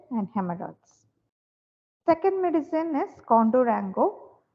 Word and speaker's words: Cundurango: hemorrhoids second medicine is condorango though we pronounce it as condorango Co Contour angle if